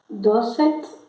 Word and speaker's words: docet: Docet ensina. Docet ensina. CE e CI se pronunciam CC, né? Então é Cecília, para se lembrar.